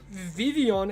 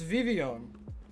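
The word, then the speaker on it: Vivillon: And Vivion is how you're meant to pronounce it. The L's are silent. Believe it or not, it's Vivian.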